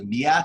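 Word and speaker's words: Myatt: It's not Matt Snyder, it's Miat Snyder, I think is the way it's pronounced.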